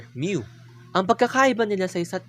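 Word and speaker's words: μ: sample mean, denoted as the Greek letter µ (pronounced as myu).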